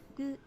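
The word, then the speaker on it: ぐ: This is gu. You pronounce this as gu, like ooh, it's gooey.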